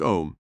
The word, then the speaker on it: Aum: Say the mystical mantra Aum, pronounced Om, 5 times softly, under your breath.